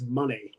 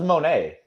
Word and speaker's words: Moné: how you doing Dwayne it's pronounced Mercedes money whatever I thought it was Monet no it's money because it's Sasha Banks